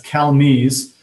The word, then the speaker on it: Calmez: It's Calmez, which is Americanized French.